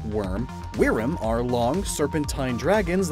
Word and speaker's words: Wyrm: Though it could also be a play on Wyrm, sometimes pronounced worm.